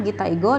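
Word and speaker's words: 擬態語: Ini kanjinya gitaigo dan ini adalah cara bacanya gitaigo ya.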